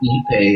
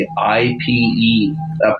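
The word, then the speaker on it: ipe: Um, what about uh when people call e pay IP?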